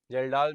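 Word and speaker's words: Kjeldahl: ठीक है, जेल्डाल method, जेडाल method, अलग अलग प्रोनाउंसिएशंस हैं।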